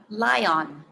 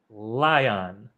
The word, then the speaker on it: lion: for the i sound how do you say this lion lion lion like lie on the bed yeah instead of lie on lion yes exactly now